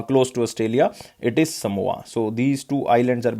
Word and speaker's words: Samoa: so exact name is samoa so in some words it will be written as someone now so guys remember it is basically pronounced as a samoa so uh who was